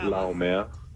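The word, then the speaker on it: Laumea: say that one more time yeah satawa SATA lamea how many times have you been asked to pronounce that over the years uh shoot yeah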